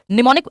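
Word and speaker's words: mnemonic: निमोनिक am silent है इसलिए निमोनिक बोलते हैं इसको।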